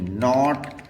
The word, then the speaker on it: knot: इसके बाद में के अगर एन से पहले आए तो ये साइलेंट हो जाता है, जैसे कि KNOW नो, KNOT नॉट, KNOB नॉब, KNEE knee, KNOCK नॉक और KNIGST नाइट और KNAP नैप।